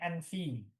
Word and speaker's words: NPHI: Nah, jadi NPHI itu bacanya biasanya NV. NPHI itu NV, itu neutron porosity.